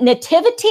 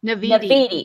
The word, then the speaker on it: Naviti: Is it Nativity or Naviti? Naviti.